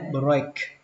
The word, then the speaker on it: break: Âm ở đây là âm A các bạn nhé, break, break, break the rule. Chữ này đọc là the, break the rule.